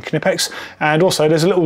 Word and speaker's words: Knipex: However, someone from Knipex brought me up on it, and it was just like, we actually pronounced the K in Knipex.